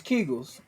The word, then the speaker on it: Kegels: How's that pronounced? It's Kegels.